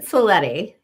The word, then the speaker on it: Cleti: So, I pronounce it Cleti even though it's spelled like.